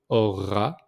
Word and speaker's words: auras: So j'aurai, Tu auras. So we don't pronounce the S at the end.